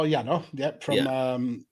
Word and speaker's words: Yano: Is that how you say it, Yano? Oh, Yano, from New Japan.